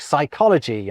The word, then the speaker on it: psychology: So we pretend the P isn't there when we pronounce Greek-derived words like psychology and psalm.